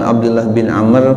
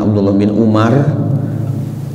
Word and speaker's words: Abdullah bin Amr: Ingat bacanya jangan Abdullah bin Umar. Kenapa kita yakin ini bukan Umar walaupun gundul ya, enggak ada harokatnya, tapi yakin kita namanya Abdullah bin Amr bukan Umar. Alasannya karena setelah huruf ro ada waw ya.